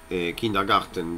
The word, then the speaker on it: Kindergarten: Kind es niño, de ahí viene Kindergarten, Kindergarten, bien pronunciado.